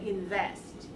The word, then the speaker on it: invest: whoa whoa okay so make sure you put just a little bit of your lip on the upper teeth and make it vibration vibrate the lower lip right so go and say invest in West invest invest